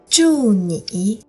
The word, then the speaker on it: 祝你: Here's how you pronounce it with the tones. 祝您, 祝您。祝你，嗯嗯嗯，嗯嗯嗯。祝你，祝你。